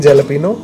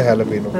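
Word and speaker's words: jalapeño: हैलपीनो ना, स्पेलिंग जलपीनो वैसे हैलपीनो।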